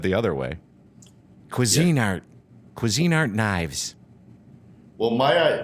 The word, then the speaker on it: Cuisinart: art uh cuisine art it's not cuisinart it's cuisine art exactly the funny thing is is that it really is if you think about it it's spelled that way it's spelled cuisine art but through the years we all just started calling it cuisinart like my coffee machine is a cuisinart i never think of it as cuisine art but think of this